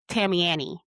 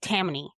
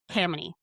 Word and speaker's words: Tammany: Let me Google how to pronounce this again cuz my brain wants to say Tammany, but it's not.